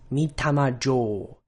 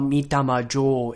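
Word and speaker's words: Mitama Jō: And also be sure to not diphthongize the vowel. So keep your tongue in one position throughout the duration of pronouncing the vowel. O, not O, like we like to do in English.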